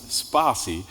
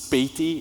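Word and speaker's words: Spatie: should pronounce it is with the word spa and then C and then you have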